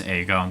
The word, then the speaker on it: Eigong: entire game my goodness aong what is there to say about aong uh well initially the pronunciation was supposed to be gong but uh that did not make it into the final cut because people there was